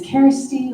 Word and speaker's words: Kersti: As was mentioned, my name is Kersti, like Care Bear.